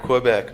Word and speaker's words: Quebec: Q's are pronounced as K's. Quebec. All right, so say that. Quebec. Quebec. Everybody say this. Quebec. Quebec. Papa Quebec. It's not Q, it's Quebec.